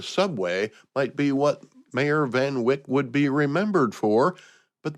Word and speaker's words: Van Wyck: This week in 1900, the mayor of New York City, Robert Anderson Van Wyck, I think that's how you pronounce it, Van Wyck, Van Wyck, W-Y-C-K, breaks ground for a new underground rapid transit railroad that would link Manhattan and Brooklyn.